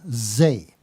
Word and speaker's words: Zay: Okay, I write under the name Zay. Rhymes with cabaret.